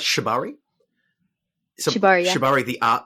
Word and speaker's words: Shibari: Like, oh yes, yeah, because like I've looked at, how do you pronounce Shibari? Shibari, yeah.